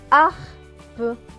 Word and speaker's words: harpe: Plus loin, H et A. A, puisque le H ne se prononce pas. A suivi du R. Cela va donner ar. Ar. P et E. Peu. Donc ce mot, cela va donner harpe.